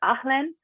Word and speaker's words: HALIENE: I don't speak French, so the closest I can say it is HALIENE, and it's spelled HALEINE, so a little different than me.